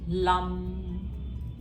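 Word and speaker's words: लं: और मन ही मन में लम, ऐसे प्रोनाउंसिएशन है इसकी.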